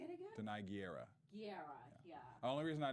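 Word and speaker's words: Gurira: Guerra. Yeah. Say it again. Denai Guerra. Guerra.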